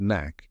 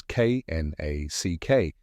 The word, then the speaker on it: knack: Knack the spelling of knack is k n a c k but an interesting aspect of this word is that the K is silent so it is pronounced Knack let's break down the